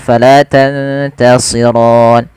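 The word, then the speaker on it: تَنْتَصِرَانِ: Sebagaimana bacaan tadi, falafal wa nuhasun fala tantasiron. Kemudian pada lafal si tebalkan sedikit karena dia huruf isti'la.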